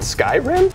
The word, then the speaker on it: Skyrim: wait another year for that that's how you pronounce it Skyrim it turned into an obsession shut up Max